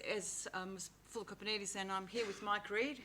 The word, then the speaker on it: Kopanidis: No, Kopanidis. Greek names are phonetic. The way they're spelt is the way they're pronounced.